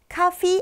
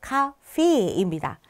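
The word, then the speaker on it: Kaffee: 커피 같은 경우도요. 카피 아니고요. 카페입니다. 카피 에를 길게 발음한다는 거 기억해 주세요.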